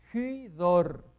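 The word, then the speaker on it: ὕδωρ: Hy, acá tenemos el espíritu rudo mirando a la derecha, por lo tanto va a ser, suena como H, como J aspirada, una H aspirada. Hydor.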